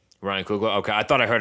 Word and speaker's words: Coogler: like how do you say his last name ryan coogler ryan coogler okay i thought i heard it pronounced in like you know some other way